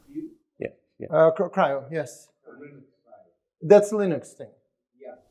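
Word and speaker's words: CRIU: Was the pronunciation Creo? Cryo, yes.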